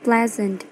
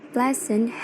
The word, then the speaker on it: pleasant: The word pleasant has a primary stress in the first syllable. Dan kemudian ketika mendapatkan imbuhan an di depannya, phonetic transcription-nya masih tetap sama, yaitu stressnya masih berada di play. So, the stress remains on play.